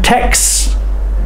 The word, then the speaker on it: texts: it's easier to say but Tex the ks sound t e x k x x e x x Jim Tex just say it like this Jim texts his friends every day but you need to hear the S text Jim texted his